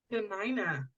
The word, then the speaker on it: Dena'ina: wrong Deni is that how you say it denina denina thank you denina lands in Anchorage Alaska